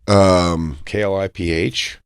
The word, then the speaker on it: Kliph: Kliph. I don't know if I'm going to listen to a guy whose name is spelled like that.